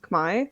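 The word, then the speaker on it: Khmer: people call Cambodian but the actual name is Kamai and it's spelled k hm e r some English too can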